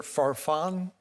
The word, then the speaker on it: Faron: your last name mispronounced is it Faron correct okay good guess correctly um be happy to hear